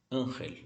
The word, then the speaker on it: ángel: Ángel. Lembre-se, esse G tem som de R, porque está antes de um R.